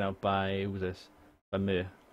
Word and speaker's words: Myr: I think it's pronounced in Game of Thrones. But I think it's one of those things which can be pronounced Myr or.